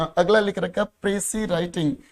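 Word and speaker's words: précis: इसकी एक तो प्रोनाउंसिएशन ठीक करोगे, लगभग बच्चे बोलते हो प्रीसाइज, तो ऐसा कुछ नहीं बोलना, इसकी प्रोनाउंसिएशन होगी प्रेसी।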